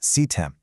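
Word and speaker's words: CTEM: CEM, pronounced CEM. It stands for continuous threat exposure management.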